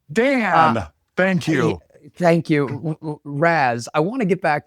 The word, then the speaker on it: Raz: Well, Matt, don't say it like that. I mean, just say it normal, man. Just hey, Raz. Okay. Dan, thank you. Thank you, Raz.